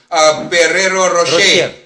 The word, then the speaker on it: Ferrero Rocher: Ano bang tama hindi nga pronunciation? Ferrero Rocher. Rocher? Okay. Ferrero Rocher. Kay baga nakuha ako di dahang Ferrari. Silent R.